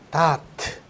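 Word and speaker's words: דעת: 다아트. 요거도 다트죠? 그거하고는 조금은 달라요. 발음은 비슷한데. 다아트라고 해요.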